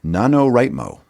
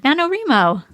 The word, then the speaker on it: NaNoWriMo: We're coming up on it called the NaNoWriMo. Oh, NaNoWriMo. Oh, it's Remo? That's how I've always pronounced it, or heard it. Wouldn't the WRI stand for right? Let's ask somebody that might know. NaNoWriMo.